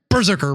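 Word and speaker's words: BRZRKR: I'm going to read the solicit here because every Berserker book is a little different. And I say it that way because it's spelled BR R ZR KR for those who don't know.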